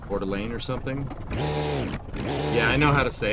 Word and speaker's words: Coeur d'Alene: Like Coeur d'Alene or something?